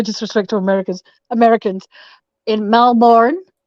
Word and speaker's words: Melbourne: to Americans Americans in Melbourne which is actually pronounced Melbourne Melbourne um I went to